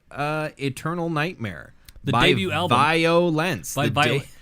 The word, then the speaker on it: Vio-lence: All right, so we listened to Eternal Nightmare, the debut album, VIO-LENCE. They pronounce it violence. Just if violence. You ask them, they just say it's violence.